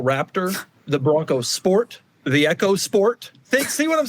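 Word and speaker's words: EcoSport: Very successful vehicles, especially that last one, which is pronounced Echo Sport, despite the fact that it should be Eco Sport by all branding decisions.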